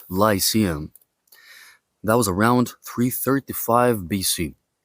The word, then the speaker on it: Lyceum: his own school, that we call in Greek Lykeion. In English, you pronounce this Lyceum.